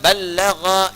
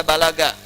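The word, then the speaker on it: بَلَّغَ: Dari kata ballagha yuballighu. Ya. Ballagha dibacanya, bukan bahasa Sunda balaga, ya.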